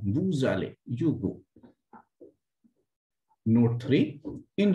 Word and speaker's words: vous allez: V-O-U-S, then ale, then this S will be linked and pronunciation will become vous allez, you go.